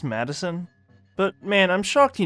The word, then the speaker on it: Maddison: maddison before this point it's pronounced madison but man i'm shocked